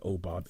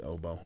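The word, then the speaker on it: OBOB: was like there's a oh bob error here oboe it's not oh we pronounced it oh bob but it's really oboe off by one i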